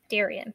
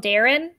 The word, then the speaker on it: Darian: and introduces himself as darian oliveira's is that how we say his name yes okay darian yes i could i keep wanting to call him darren yeah anything i don't